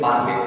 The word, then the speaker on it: parler: We pronounce it parler already I told. Whenever verbs are ending with or will make single sound a. So we pronounce it parler.